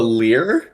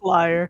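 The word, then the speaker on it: lyre: like a u-shaped top oh a lear no it's a liar she's right pronounced liar yeah i thought it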